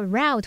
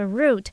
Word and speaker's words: route: pick up 这个片语有很多意思哦，像是拿起、捡起来啊，接送某人啊，领取某物、购买某物，或者是获得、学会等等。E 选项 perceptions 它表示感知、看法，是个名词。F 选项 varieties 表示种类、品种。G 选项 characteristics 也是名词，表示特征、特点。H unique 它是形容词，形容独特的、与众不同的。I 它念作 route 或是念作 route，它可以当名词表达路线、途径，也可以当动词表达发送、传送的意思。那么 J activated activate